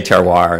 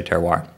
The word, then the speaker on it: terroir: So I think an important first step is to get rid of all that and pronounce it like good Americans do. So I say terroir, and most people I know say terroir.